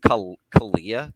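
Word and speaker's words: Calijah: I would say though that I think value wise, also this week I heard it pronounced Kalijah Kancey. Apparently you don't pronounce the J.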